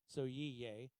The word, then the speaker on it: Sohail: His name is Soyiye. I hope I'm pronouncing that correctly. It looks in our language like Sohail, but it's pronounced Soyiye.